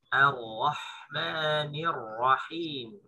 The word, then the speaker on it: Ar-Rahmanir-Rahim: Ayat yang ketiga bacaannya sama dengan di basmalah, yaitu bacaan Ar-Rahmanir-Rahim. Ar-Rahmanir-Rahim. Ingat hamzanya tipis. A, bukan O. A, bukan O. Kalau kita baca dengan O berarti tebal. Bacanya A tipis ketemu Ro tebal.